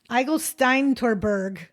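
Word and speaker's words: Eigelsteintorburg: Eigelsteintorberg.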